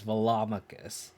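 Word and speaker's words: Velomachus: i'm i'm sorry i'm saying it wrong it's velomicus i don't know i like it's funny because i always pronounce like culture i always called claudra culture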